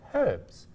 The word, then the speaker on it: herbs: bit confusing for me when you pronounce that H in house and heard but not in herbs how do you say hurts herbs to say we say herbs we enunciate that H again H hey hey